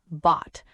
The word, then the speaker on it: bought: Sure, it sounds like bought. The letters O-U-G-H can look scary, but the sound is short and simple.